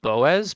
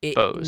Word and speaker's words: Boaz: I've been pronouncing it Boaz, but apparently it's just Bose. So my it's bad, Bose, Noah. like the speaker company.